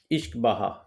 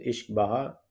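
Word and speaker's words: uisce beatha: The name whiskey comes from Irish term Ishkbaha. Okay, don't look at the spelling but the pronunciation is इश्क बहा, इसीलिए मैंने इसको हिंदी में लिखा है, which means water of life.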